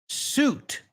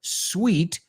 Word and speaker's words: suit: A lot of people pronounce suit as if it were sweet, dulce, guay, or sweet, una de las mejores habitaciones en un hotel.